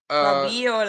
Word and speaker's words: Fabiola: For what concerns Fabiola, Fabiola, let me say it properly, because then foreign people say Fabiola.